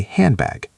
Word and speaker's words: handbag: We almost never pronounce the D. We say sandwich or handbag. We say handbag.